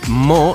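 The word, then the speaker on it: MØ: Pero claro, afortunadamente se puso mo que se pronuncia mi, que lo he estado mirando.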